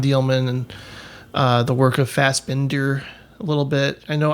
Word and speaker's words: Fassbinder: That's how you pronounce it. But Fassbinder, I know.